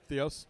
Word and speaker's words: Theos: Theos.